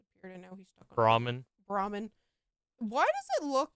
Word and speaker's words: Brahmin: Brahmin. Why does it look... Is it pronounced like ramen? No, it's Brahmin.